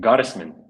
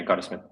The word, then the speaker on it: Gottesman: Goddisman. Goddess. German name. And yeah, Goddisman.